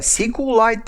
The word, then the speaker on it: SQLite: about pronunciation well actually i'm saying sqlite and mysql because it's easier for me it's somehow logical but some people are saying uh sequel light and my sequel so if you